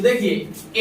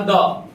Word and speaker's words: the: ठीक है, तो देखिए ए और एन और द.